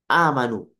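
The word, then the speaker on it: آمنوا: A'manu. Ya. Diucapkan oleh orang Arab, orang lidah Arab, amanu. Ya, ini untuk memudahkan.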